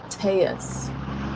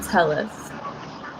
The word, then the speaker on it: Telles: United States, that's why his name is pronounced Teus, not Tellus.